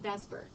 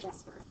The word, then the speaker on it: VSEPR: We just call it VESPER, even though it's not how you say it.